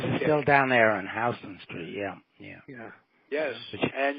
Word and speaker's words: Houston Street: Yeah, Katz's is still down there on Houston Street. Yeah. Yes, and you pronounced that correctly. A lot of people that don't know would pronounce that Houston Street. And well, I know. That's a sin. That's a sin in New York.